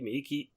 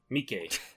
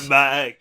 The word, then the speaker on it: Miike: Visionary director Takashi Miike, how do you pronounce his name? It's Miike, I think. Miike. I can't remember. Miike. Something. I would have said Mike. No, but, Mike.